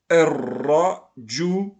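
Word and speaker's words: الرجل: On a appris précédemment qu'on doit faire la liaison entre le elif et la lettre solaire. C'est-à-dire, je prononce le mot Ar-Ra, Ar-Ra-Ju-Lu, Ar-Rajul.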